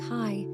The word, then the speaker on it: chi: The Greek letter that looks like the letter X is called chi and is pronounced chi.